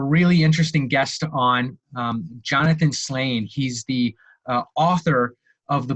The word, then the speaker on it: Slain: And it's Slane. I know it's a dumb question, but Slane, the last name, right?